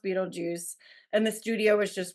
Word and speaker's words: Beetlejuice: it like varies and apparently it was always supposed to be spelled Beetle G but pronounced Beetle Juice and the studio was